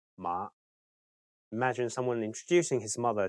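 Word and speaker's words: 馬: totally bizarre to you in Cantonese pitch accent is super important that's right a word's meaning could be different depending on the tone that's pronounced you definitely don't want to mix up mother and horse for instance yes that will be a funny mistake in Cantonese mother is ma and horse is ma imagine someone introducing his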